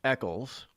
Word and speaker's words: Eccles: Nobody thinks that my last name is actually pronounced Eccles.